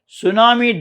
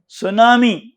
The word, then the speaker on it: tsunami: by the water pollutant and thirdly in 2011 tsunami debris in japan created a 70 kilometers long island of debris that is floating into the pacific ocean tsunami what is tsunami is a japanese word the